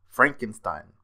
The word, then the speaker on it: Frankenstein: corrects her and tells her that it is pronounced Frankenstein.